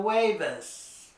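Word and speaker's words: jueves: now we have El huevas El huevas That's Thursday and the beginning of the word sounds like it's a w in English but ju sounds like a w in Spanish so it's El huevas okay El viernes El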